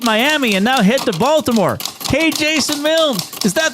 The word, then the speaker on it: Baltimore: Do you remember how he pronounced Baltimore? No. Baltimore. Baltimore. Is that how they say it if you live there? I think if you're a Baltimorean, you pronounce it Baltimore.